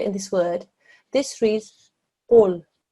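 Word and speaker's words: قُل: sound is made is right at the back of your mouth, at the top of your throat. When you put that together here in this word, this reads qul, qul.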